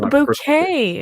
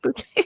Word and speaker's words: Bucket: It's a bouquet. It's pronounced bouquet.